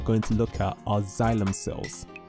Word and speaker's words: xylem: The next specialized plant cell we're going to look at are xylem cells. Notice how the XY is pronounced like Z, so xylem cell.